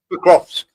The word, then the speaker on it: Pokrovsk: Pokrovsk.